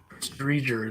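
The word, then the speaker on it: Driedger: Drieger is how it's pronounced.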